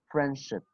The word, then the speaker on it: friendship: So when te and de, rule number 2, you must remember, when te and de come between 2 consonant sounds, we do not pronounce them. Like these examples, we will say what? Friendship, friendship, handsome, okay?